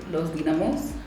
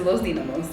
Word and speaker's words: Los Dinamos: to these mountains called loamos I keep saying it wrong but it's Lo damos so it wasn't too